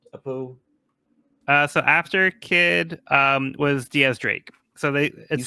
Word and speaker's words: X Drake: Yeah, so it's spelled like X Drake, but it's pronounced like Diaz, like 10 in Spanish.